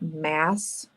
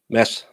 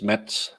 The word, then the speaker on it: Mads: And just for all your information, the D is silent, as it is in most Danish words. So is it mass? Mads. Huh. You all want to pronounce the D, so it's Mats, and that's in Sweden and Norway.